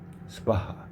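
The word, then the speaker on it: स्वाहा: 스바하. 자, 이거 발음은 이 스는 아주 작게 하고 바하 이렇게 스를 갖다 붙이죠. 그냥 바하 스바하 라고 발음해야 됩니다.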